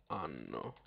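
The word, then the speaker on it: hanno: normal okay Loro ano you pronounce it the same way that you pronounce year in Italian which is also ano except the year in Italian doesn't have the H in front of it we're just ignoring the H for pronunciation purposes now if I wanted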